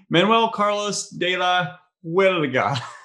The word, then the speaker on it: Manuel Carlos de la Huerga: I'm here with Manuel Carlos de la Huerga. Did I pronounce that right?